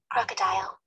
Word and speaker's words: crocodile: of the word crocodile crocodile the stress is on the first syllable and this is how native speakers say crocodile crocodile crocodile crocodile okay